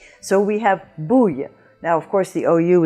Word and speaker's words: bouille: So you have bouille. Bouille. We had it in hard word number 11 in a grenouille, in the same sense, ouille, ouille.